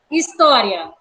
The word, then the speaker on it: história: História recebeu acento na penúltima sílaba, sílaba to.